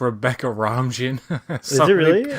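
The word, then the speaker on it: Rebecca Romijn: as his character uh it's pronounced rebecca ramjin no so so many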